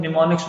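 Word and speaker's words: mnemonics: होते हैं जिनको हम निमोनिक्स बोलते हैं। इसमें एम जो है वो साइलेंट है, निमोनिक्स हम कहते हैं।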